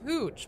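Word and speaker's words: Hewch: It's Ooch, but it's spelled H E W C H.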